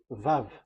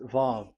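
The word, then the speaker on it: וו: So it's V as in Vogue. So it's really V. How to read Vogue? So the word, the shape Vav is really pronounced V, like Vogue. That is it, pronunciation. So here in this side, it's pronunciation. This is pronunciation. So according to the old Hebrew word today, those who, the owner of the words, I mean, so it's a V. So don't change it into W.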